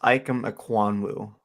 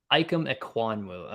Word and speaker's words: Ikem Ekwonu: I believe it's pronounced Ikem Ekwonu. Ikem Ekwonu.